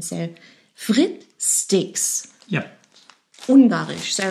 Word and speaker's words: Frit-Sticks: This is, well, we pronounce it German, so Frittsticks.